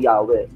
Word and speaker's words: YHWH: Although binibigkas ito ng iba bilang Yahweh. Although sinabi ko na ito sa iba kong lecture na yung YHWH, hindi eksaktong Yahweh ang bigkas doon.